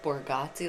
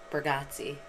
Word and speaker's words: Bargatze: What did I say? Borgazzi, like you were going to the Borgata? Oh. How do you say it? Bargatze. Bargatze? Yeah. Oh. I always say Borgazzi. It sounded like you were going to the Borgata, and you just added the Z.